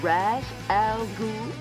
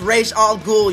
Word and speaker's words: Ra's al Ghul: Now, am I pronouncing this right? Mr. Ra's al Ghul? No, it's Ra's al Ghul, you stupid bitch.